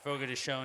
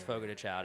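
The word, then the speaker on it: Fogo de Chão: since I've been to Fogo to Cha like whenever you know Fogo to shown is the correct pronunciation but it's F to Chow everybody else um but like when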